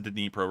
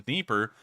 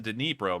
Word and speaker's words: Dnipro: The river you're talking about in particular is the Dnipro River, which we actually found out is not the Dnieper. I believe that's the Russian pronunciation. It's the Dnipro, much like the city of Dnipro.